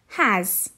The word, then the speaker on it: has: got two adjacent consonants has the s sound at the end makes a z sound has his the s sound